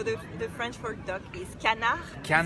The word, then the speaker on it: canard: So the French for duck is canard. Canard. It's an open A.